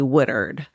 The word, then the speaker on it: Woodard: I called her Brenda Woodward, but her last name was actually Woodard.